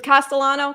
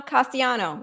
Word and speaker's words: Castellano: It's like with Castellano. Castiano, we always talk about the double L.